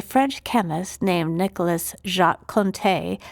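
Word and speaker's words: Conté: So sometime in the late 1700s, a French chemist named Nicholas Jacqu Conte, that's C O N T E with an accent on the E, figured out that you could mix graphite powder with clay to make it more stable.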